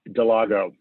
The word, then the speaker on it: Dallago: Dallago.